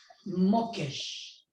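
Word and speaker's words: מוקש: Alors ici, le terme traduit par piège, en hébreu, on dit mokesh. Même, vav avec le point à droite, kof et shin, mokesh. Ça s'écrit comme ça en hébreu, hein?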